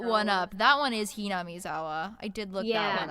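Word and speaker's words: Hinamizawa: I looked that one up that one is ham zawa I did look that one up yeah I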